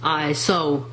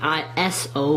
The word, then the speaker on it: ISO: is used um differently the word ISO is pronounced is so not an i o but is so and that is the pronunciation